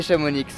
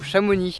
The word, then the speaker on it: Chamonix: aller visiter chamounix petite question reste à voir si chamounix ou chamonix parce que bon dans les meilleurs temps beaucoup chamonix mais dans le nia x donc du coup devrait prononcer et vous savez quoi cet x il est pas là pour rien du coup tout